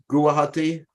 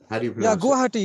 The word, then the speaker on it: Guwahati: okay okay got it yeah how do you pronounce that guwahati guwahati yes yes I know guwahati yeah yeah okay